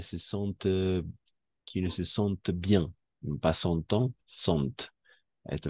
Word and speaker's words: sentent: ENT no pronunciamos. O sea, ese ENT no vamos a pronunciar nunca cuando se trate de verbos.